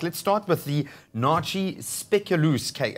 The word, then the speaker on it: speculoos: start with the Nachi speculoos okay how do you say that they lose well it's about speaking yes when you say speak you loss I see which is